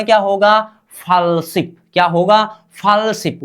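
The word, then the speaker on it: 팔십: क्या होनी चाहिए शिप होनी चाहिए क्या शिप उच्चारण क्या होगा फलशिप क्या होगा फलशिप उच्चारण कीजिए मेरे साथ फॉल्स शिप होनी चाहिए फॉलशिप का मतलब क्या हो 80 हो गया क्या?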